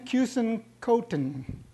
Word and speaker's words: Keusenkothen: you'll enjoy what he has to say Ken cousin cotton ah let's hear from the speaker be he